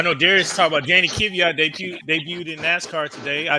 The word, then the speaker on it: Kvyat: Darius, I know Darius talked about Danny Kvyat debuted in NASCAR today.